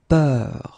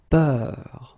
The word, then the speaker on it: peur: the same, but it's a bit lighter, more open, and it's peur. Okay, previously it was bleu, so really, really deep, bleu. This one is more open and it's peur, okay, peur.